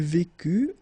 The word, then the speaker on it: vécut: Il vécut, elle vécut, final T not pronounced.